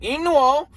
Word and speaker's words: Inu-Oh: you can check out Inu-Oh. I have to say it like that because that's how they say it in the movie.